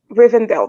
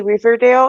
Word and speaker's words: Rivendell: elves live again urbandale rivendell because i always want to say riverdale and that's not it um like not at all so reason though i